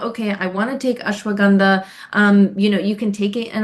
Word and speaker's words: ashwagandha: So, ashwagandha is incredible, or ashwagandha, other people pronounce it as well.